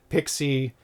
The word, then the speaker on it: PXE: So, I would like to welcome Zachary Scalero, Zack Attack from Phantom Logic Studios, creator of P Pixie, PXE, pronounced Pixie, and Chameleon Cart and developer of games such as Mattress Monkeys, Octopusher, and Elfen Squirrel.